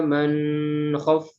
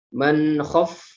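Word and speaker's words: من خفت: Lalu di sini ada idhar halqi, tidak bisa tidak boleh dibaca dengung. Tidak boleh wa amma man khaf. Nah, itu tidak boleh. Man khaf. Ya, dia baca jelas. Tidak didengungkan.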